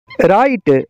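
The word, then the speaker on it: write: का जी साइलेंट है राइट राइट का मतलब है घरना या बनाना राइट का डब्लू खामोश है नॉलेज नॉलेज का मतलब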